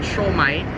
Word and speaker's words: siomai: First off, we're having a bit of siomai. We call it siomai.